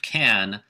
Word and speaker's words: can: in in case of can to uh pronounce it with a schwa in the middle and stress the next word you know i can